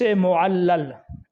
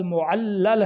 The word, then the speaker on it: معلل: بھی۔ اسی طرح حدیث معلل، یہ لفظ معلل ہے، معلل نہیں ہے۔ اسی طرح معلل بھی